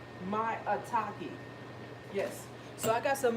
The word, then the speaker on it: maitake: Maitake.